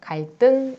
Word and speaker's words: 갈등: 한자어인데 받침 리을이 그 뒤에 있는 디귿, 시옷, 지읒을 만날 때 그 뒤에 있는 디귿, 시옷, 지읒을 된소리로 발음한다 라는 거예요. 그래서 갈등 이렇게 발음을 합니다.